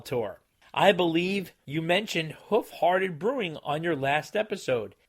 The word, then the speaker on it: Hoof Hearted: a real farewell tour I believe you mentioned hoof hearted brewing on your last episode it's pronounced who farted you see what they did there yeah they